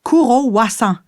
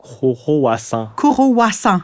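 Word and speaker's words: クロワッサン: Pensons par exemple à croissant. Prononcer courissant. Coroissant. Ouais.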